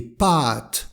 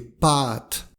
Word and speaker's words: pâtes: Des pâtes, avec un A long. Des pâtes.